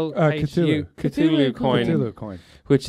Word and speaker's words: Cthulhu: Now, I don't know how to pronounce this. It's Cthulhu, Cthulhu coin.